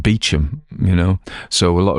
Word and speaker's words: Beauchamp: It's a French-looking name, but a lot of French names like Beauchamp get pronounced Beecham, you know.